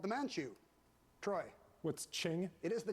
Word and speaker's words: Qing: In 1644, China's Ming Dynasty was succeeded by this one that rhymes with Ming, also called the Manchu. Troy. What's Qing? It is the Qing Dynasty.